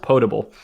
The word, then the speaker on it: potable: Okay, well you're both wrong, because it's not determined a waste corner and it's pronounced potable.